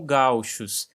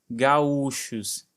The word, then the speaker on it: gaúchos: Nesses países de língua espanhola são conhecidos como gauchos, assim com a pronúncia mais forte no a, enquanto aqui no Brasil a ênfase é no u, gaúchos, ganhando inclusive um acento agudo.